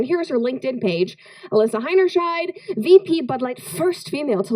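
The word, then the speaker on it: Heinerscheid: she is the so Alysa hiners Shide that's how you I had a hard time figuring out how to pronounce her last name but H their sh sounds German no offense and Germans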